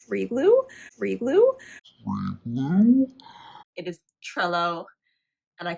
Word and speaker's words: Trello: I made fun of myself because I totally butchered the name. Freeglue? It is Trello, and I called it Trello because I'm an idiot sometimes with words.